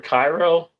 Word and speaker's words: Cairo: What was the other one for Cairo?